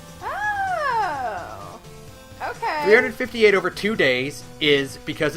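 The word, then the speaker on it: 358/2 Days: Now, 358 over 2 days. Is that how you pronounce it?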